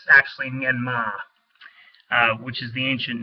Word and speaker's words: Myanmar: by the way, the term used now is Myanmar, with an R in the end. That's not actually how one says it. You'll never hear it pronounced correctly in the news media, but it's actually Myanmar, which is the ancient name for that place.